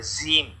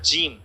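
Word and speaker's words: جيم: অনেকে জিম এরকম পড়ে, জিম, আসলে এটা কিন্তু জিম না, হ্যাঁ, এটা জিম। জিম বর্গীয় জ, অনেক শক্তভাবে উচ্চারণ করতে হবে।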